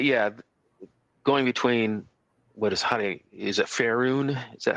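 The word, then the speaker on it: Faerûn: But yeah, going between is it Faerun? Is that how you pronounce the Forgotten Realms world? Faerun.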